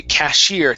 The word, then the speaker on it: cashier: Yeah, this is going to be cashier. Nice pronunciation there. Good stress on cashier.